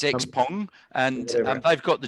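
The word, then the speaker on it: Xpeng: them um and uh you know and the x paying is starting to hit export markets now i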